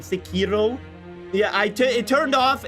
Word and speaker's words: Sekiro: Why do you pronounce searo like it's Sakiro?